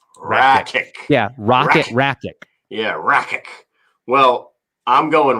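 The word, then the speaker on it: Rakić: It's Rakic. Yeah, Rakic.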